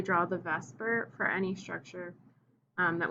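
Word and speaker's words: VSEPR: today via cpr okay pronounced vesper just as an acronym there uh we're going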